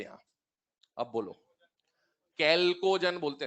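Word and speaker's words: chalcogen: अब बोलो, कैल्कोजन बोलते हैं इसको ना, चैल्को नहीं बोलते, स्पेलिंग याद कर लो भले, चैल्को से, इसका एच साइलेंट है, इसको बोलते हैं कैल्कोजन।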